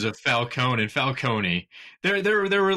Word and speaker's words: Falcone: no joke here it's the name is traditionally always pronounced Falone Nolan just for some reason decided to make it overly Italian sounding by adding an e at the end where it's Falcone it it would be